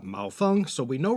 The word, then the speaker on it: Maofeng: another famous green tea huangshan malfung ah mao fung so we know right